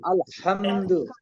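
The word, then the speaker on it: الْحَمْدُ: কিন্তু পরিবর্তন হবে না দেখেন এখানে দুইটা ভুল হচ্ছে আলে অনেকে শোনা যাচ্ছে আলে হামদুলিল্লাহ শব্দটা কি আলে হবে আলহামদু হবে আল কি হবে আল আলহামদু আলহামদুলিল্লাহ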